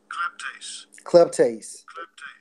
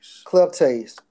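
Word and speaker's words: κλέπτης: it's Strong's G 28 and 12, and it's pronounced as it's coming up now, bro. Mhm. Strong's G 2812 Kleptase. Kleptase.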